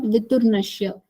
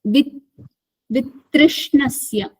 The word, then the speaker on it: वितृष्णस्य: Drashta Anushravika Anushravika Vishaya Vishaya Vitrishnasya Viturnashya not viturnasya. Vitrishnasya. With Trishna.